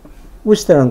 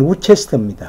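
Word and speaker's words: Worcester: 예를 들면 이제, 우스터라는 곳이 스펠링은 우체스터입니다. 우체스터죠. 근데 우스터, 발음 많이 틀려요. 그런 것들 같은. 우스터가 맞는 발음 아니에요? 우스터가 맞는 경우죠.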